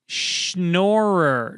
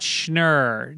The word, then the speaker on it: Schnorrer: one comes from baguette it's pronounced schnorrer not schner didn't you wasn't it